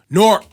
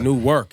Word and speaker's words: Newark: is one syllable now. It's not Newark anymore. It's always Newark.